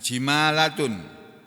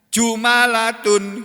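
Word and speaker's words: جمالات: kalau batu hijau nya bukan di kasroh tapi di domah bila Alif dengan tanpa Alif jadi membacanya ini enggak ada jadi bacanya jumalatun gitu bacanya Yakub ahli juga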